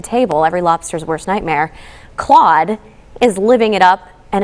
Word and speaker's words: Clawde: His name is Claude, after the restaurant's mascot. Of course, it's spelled C-L-A-W-D-E. Good pun there.